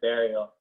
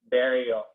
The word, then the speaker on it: Burial: from uh the artist burial what's that what's the name what's the name burial how'd you spell it like i'm gonna bury like b-u-r-i-a-l oh okay artist out